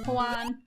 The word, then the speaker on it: Juan: Oh yeah, H's are silent. Oh, okay. J's are H's. Yeah. Like, Juan.